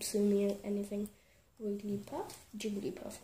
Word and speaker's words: Jigglypuff: Wigglypuff, Jigglypuff, not Wigglypuff, let's see.